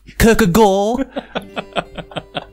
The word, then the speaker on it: Kierkegaard: It's actually pronounced Kierkegaard.